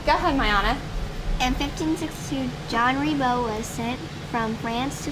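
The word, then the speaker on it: Jean Ribault: How do we actually say his name in f in the French pronunciation? You want to help Tyia? John. So, John. So, we have this J. So, John Rebo.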